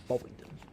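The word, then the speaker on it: Bovingdon: Um Bington transition can expect an aisle approach into runway 27 left and you can expect radar vectors beyond Bington. Interesting word. Boington spelled provin November. November, but it's pronounced Bington.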